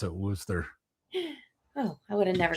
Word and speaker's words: Worcester: Yeah, that's how they pronounce it, Worcester.